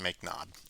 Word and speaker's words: mknod: in here uh called mknod typically this is pronounced make nod um and uh this is uh this can